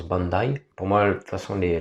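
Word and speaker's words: Bondi: connue c'est bondai Beach que les purs français app appellent pardon bandi mais ça se prononce Bandai pour moi façon sont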